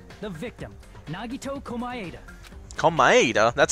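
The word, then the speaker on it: Komaeda: this incident was the victim Nagi tokuma ADA come by ADA that's how you pronounce it he kept a specific item inside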